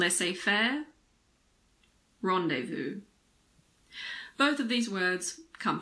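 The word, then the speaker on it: rendezvous: the letter Zed again there aren't that many words in English with a silent Z the most common ones are probably l a fair and rendevu L a fair rendevu both of these words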